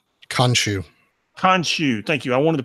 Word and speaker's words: Khonshu: pronounce it wrong you khonshu thank you I wanted to put a in there I wanted to call the connoisseur you starts explaining it